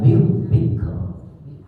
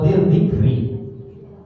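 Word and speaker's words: ذكر: Nah, kemudian satu lagi kaidahnya adalah ini nih, harus diperhatikan, wal Qur'ani dzikr. Kaf sukun, ra sukun. Jadi jangan sampai dzikr atau dzikri.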